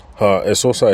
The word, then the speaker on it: Esosa: Esosa is spelled E-S-O-S-A. That's for those of us who are familiar with the Eseosa spelling, but hers is Esosa.